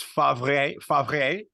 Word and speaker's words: Favre: That's Favre. Favre. Like the R and the V are on the opposite side. It still says Brett Favre.